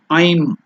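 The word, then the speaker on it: ऐं: know Sanskrit will pronounce it as a I am aim it's not aim the aim is something different aiming something this is beam manra I'm or I'm okay so that beam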